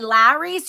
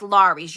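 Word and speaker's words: Lawry's: many comments you s it's spelled laurie yeah i always say larry's you guys know i can't pronounce stuff but yes it's laurie's you're right laurie's seizing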